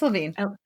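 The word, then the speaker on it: Levine: I don't know how to pronounce his last name to be honest. It's Lavine.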